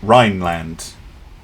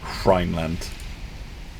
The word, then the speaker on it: Rhineland: Don't pronounce the H, so Rhineland rather than Rhineland.